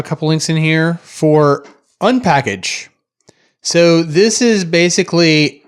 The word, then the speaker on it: unpkg: But yeah, I mean, you would pronounce it Unpackage, right?